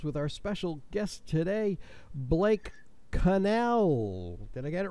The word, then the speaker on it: Connell: Citrix smart tools with our special guest today Blake Cannell then I get it right this time Blake